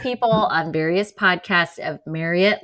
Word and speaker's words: Marriott: I'll have you all know though because I have corrected many of people on various podcasts of Marriott like Chariot or Marriott rhymes with chariot.